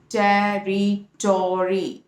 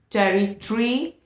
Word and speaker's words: territory: Okay, toe sound, and fourth is re and the pronunciation is territory. Okay, so in British it is territory, in American it is territory, territory, territory, territory, territory.